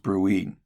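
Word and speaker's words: bruit: If you hear a turbulent sound because of plaque, then it's called a brewy. Okay. Pronounced bruie.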